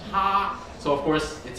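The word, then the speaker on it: 蝦: And xia in Cantonese especially, it sounds like the word to laugh. Xia in Cantonese is ha, so of course it sounds like people laughing, ha ha ha ha ha, right?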